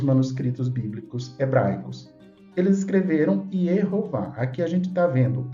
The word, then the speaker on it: Jeová: forte camats ou câes então a pronúncia em hebraico Jeová Esse é o nome